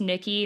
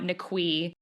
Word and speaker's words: Niqui: So, I just want to preface this by saying if you look up Niqui McCown, you want to spell it Niqui, and it is pronounced Nikki, not Niqui.